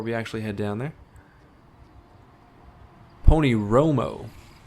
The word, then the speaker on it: Pony Romo: Pony Romo. I've been saying it wrong this whole time. Pony Romo. Not Roma. Romo.